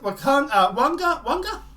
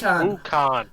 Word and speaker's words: Wukong: Black Myth Wanga? I know I'm mispronouncing that. Developer game site. It's Wukong. Fine, Wukong.